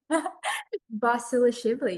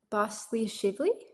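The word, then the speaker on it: Basilashvili: Um what was that pronunciation? Basil Shibli. Is that correct? No, but that's okay.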